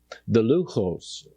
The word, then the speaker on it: Luchos: The 10 Commandments, the Orthodox pronunciation of the Hebrew of the two tablets is the Luchos.